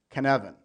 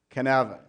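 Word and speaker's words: Cynefin: the canon framework kevin is a Welsh word with a very Welsh pronunciation can Evan everyone say it with me can Aven the Cyn is not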